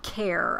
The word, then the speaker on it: Kaur: And, well, Kaur apparently is how you pronounce his last name.